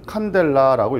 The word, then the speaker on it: 칸델라: 단위는 CD라고 쓰는데 읽을 때는 칸델라라고 읽어요. 원래는 촛불에서 어원을 땄기 때문에 캔들 이렇게 부르는 사람도 있어요. 캔들이라고 해도 되는데 보통 그냥 칸델라라는 말을 많이 씁니다.